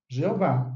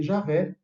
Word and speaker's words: Jeová: E veja que já naquela época, as testemunhas de Jeová não obrigavam as pessoas a pronunciar apenas Jeová. Não, nós reconhecemos que outros falam também Javé, né? E, inclusive, disponibilizamos assim na publicação, porque nós respeitamos também aqueles que escolhem outra pronúncia, outra vocalização.